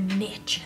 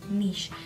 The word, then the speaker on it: niche: your Instagram, they're like, you need to find your niche, as Americans say, but niche is how I would say.